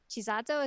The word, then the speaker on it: Chisato: But is Chisato, is that how you pronounce it?